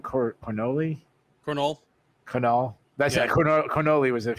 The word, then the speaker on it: Cornolle: Cornolle.